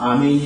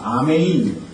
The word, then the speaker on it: 아멘: 영어로 하자면 메인인데 이 미국 사람들은 발음을 잘 못하는 사람들이죠 우리 한국말로 아멘 이게 맞습니다 아메인 헬라어로 아메인 우리 말로도 아멘 그러니까 아멘이라고 하는 단어가 원래 맞는 단어인 것이죠 어쨌든 여러분 진실로 그렇게